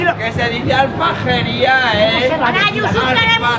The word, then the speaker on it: Aljafería: Alfrajería, maño. Alfrajería. De toda la No, vida. no se dice así.